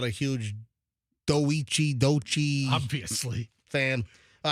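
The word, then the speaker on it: Doechii: You pronounced Dochi's name wrong, she is from Tampa. How do I pronounce Product of Blake High School. What did I say? Doichi. Is it I don't. How do you say it? I forget. Dochi? I think so.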